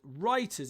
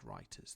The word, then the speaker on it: writers: should have included and writers is not part of the alliteration because the w is silent so in actual fact interestingly we need to delete that one we should have included writers there question eight graciously